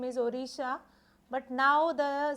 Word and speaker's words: Odisha: Earlier the state's name is Odisha, but now the spelling of that or the pronunciation of that state has been changed, that is Odisha, Odisha.